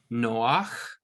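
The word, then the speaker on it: נֹחַ: is is profit and then Noah Noah it has that sound at the end of it which we're kind of not used to in English but add an arc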